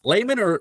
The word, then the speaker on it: Laymon: Laymon, or is that how you say it?